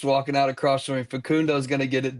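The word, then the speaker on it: Facundo: Is it Fakonei? Fakundo Fkundo.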